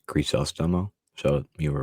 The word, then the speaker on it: Crisostomo: I thought it was Crisostomo, but apparently it is Crisostomo.